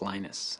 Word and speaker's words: Linus: speak Finnish it's lenos when I speak English it's lonus and I really don't